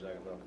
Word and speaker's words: Jagannath: Pronounced Jagannath. Jagannath?